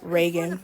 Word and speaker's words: Reagan: I like Regan, too. I'm sorry, not Regan. Reagan. I don't know why I pronounced it like that.